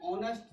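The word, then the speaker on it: honest: एच में ये ऑनेस्ट जो है, ये एच साइलेंट है, इसको पढ़ा जाता है ऑनेस्ट।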